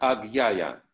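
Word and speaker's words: আজ্ঞা: Аджная читается как агьяя.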